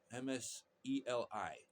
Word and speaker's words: Mseli: Right up front, I want to talk about my friend from Tanzania, and he's got this app, MSLE MSELI. Get used to pronounce Mbate.